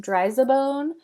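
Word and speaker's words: Driza-Bone: It is pronounced Dryzabone, so it's dry as a bone, which is so clever.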